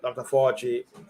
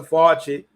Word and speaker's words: Fauci: Fauci, yeah. Okay, why can't pronounce his name? Dr. Fauci, Fauci.